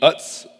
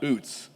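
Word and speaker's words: Utz: factory in Pennsylvania, the Uts potato chip factory. Anybody ever been there? And it I I've looked it up a thousand times. It is uts. It is not oots. It's pronounced uts.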